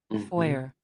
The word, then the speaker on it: foyer: Ya estás en el teatro y te proponen tomarte algo en el foyer. Aquí, vamos a escuchar cómo se pronuncia, porque es una palabra francesa. Let's go. Vestíbulo. Foyer.